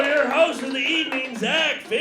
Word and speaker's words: Xack: host Tonight I uh one thing about me is my name is Zach and I actually spell it with an X which was super cool